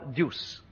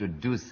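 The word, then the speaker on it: Duse: Eleanor Deuce, can you tell us something about her? In 60 seconds, starting now. Well, of course, it should be pronounced Duce, Eleonora Duce.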